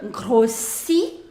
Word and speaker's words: grossis: So, you say, je grossis. So, you have double S, so you are going to pronounce it as s, not z.